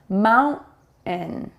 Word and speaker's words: mountain: This is what we call kind of a glottal stop, where we don't release the T sound fully. And therefore you think you kind of hear it, but we don't actually form the T sound when we say these words quickly in a natural way.